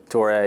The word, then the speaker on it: Toure: Jordan Smith, Abdu Toure, is that how you pronounce his last name? Toure, yeah. Both those guys.